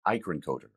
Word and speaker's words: Eikerenkoetter: the last name for me of course it's pronounced icron coder thank you yeah not as as it looks right no I coder okay so we we reached out to you